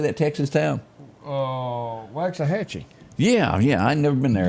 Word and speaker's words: Waxahachie: How do you pronounce this? How do you say that Texas town? Waxahachie.